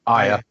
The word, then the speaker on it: Aya: Aya.